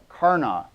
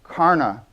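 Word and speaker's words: Karnaugh: up by a guy I might perhaps be pronouncing it wrong karna kar na u GH it's sort of a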